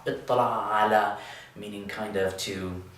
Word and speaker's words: اطّلع: And with tala'a, we're going to change that ta to a ta, but then we're going to have two tas, which means that we can do the same trick we did up here and put them under one roof with a shadda.